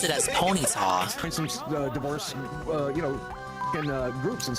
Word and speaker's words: Ponyta: always pronounced it as Ponyta divorce you know groups and stuff you I've always understood it's supposed to be a pun on Bonita but the show always